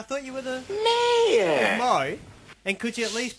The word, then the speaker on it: Moe: It's spelled M-O-E. Is that not Mo? I'm pretty sure that's Mo. It's Mo.